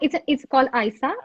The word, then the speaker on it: ISA: You mentioned the organization name is, how do we pronounce it? It's called ISA.